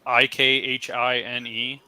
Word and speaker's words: Ikhine: Akeen. Okay, it's Ikhine.